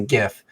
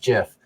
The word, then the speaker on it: GIF: which there is only one correct way to pronounce it which is obviously GIF but for some reason lots of people think it should be pronounced Jiff um so you know it's silliness but I